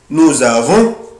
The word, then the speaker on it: nous avons: Ici je prononce la lettre S Z. bravo. nous avons vous avez ils ont elles ont.